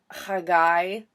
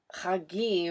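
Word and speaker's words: Haggai: in alan's video the book of hagai hagi rather is the hebrew way to pronounce he mentions that you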